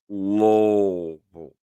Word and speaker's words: Louisville: Louisville, Louisville, or Louisville. It's really about 2 syllables.